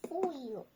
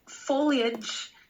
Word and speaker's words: foliage: My family hikes in the woods every autumn to enjoy the colorful foliage. It's foliage. So it's not like foliage. Like, we don't stress it.